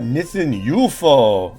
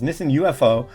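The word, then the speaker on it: Nissin UFO: Next up, we've got Nissen UFO. At least that's how they pronounce it in their commercials. Nissen UFO.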